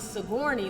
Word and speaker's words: Sigourney: The way you pronounce my name is Sigourney. Like Sigourney Weaver.